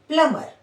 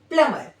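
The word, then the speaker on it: plumber: जब भी एम के जस्ट बाद बी आएगा वो क्या होगा? साइलेंट हो जाएगा। तो हम इसको प्रोनाउंस करेंगे प्लमर। ठीक है? इसका प्रोन्सिएशन क्या होगा? प्लमर।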